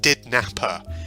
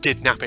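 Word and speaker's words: DidNapper: is so it says did Napper now I did a bit of background research but it's not pronounced did number it's pronounced a di D Napper so let me just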